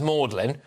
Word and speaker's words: Magdalen: And though spelt in the, quote, biblical and continental way, it is actually pronounced Magdalen, for anyone out there